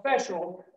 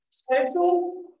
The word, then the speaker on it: special: in the word okay special ancient sufficient efficient and proficient or proficient Okay so we've got these words with the c and they're pronounced as sh okay and after that